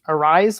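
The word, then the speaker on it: Arráez: like butts and and i believe his last name is pronounced arise like louisa rise so all of those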